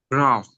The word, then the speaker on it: growth: Like you you stick your tongue out. So stick out your tongue. Growth. Growth. Growth. Growth. Grow growth. Growth. Growth. Growth. Okay. And then it's th sound, right? When you have th sound, how do you pronounce with? Right. You you stick out your tongue. Okay. When you pronounce th your tongue comes out of your mouth, right?